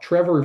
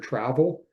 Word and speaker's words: Trevor: saying but students often call me either well Trevor for many of them but for those with a pronunciation in different ways I've often been called either Mr. Travel or Mr.